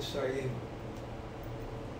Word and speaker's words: Sarajevo: From how do you pronounce that? Sarajevo? Yeah. Sarajevo? Yes. Born in Sarajevo, which was under siege.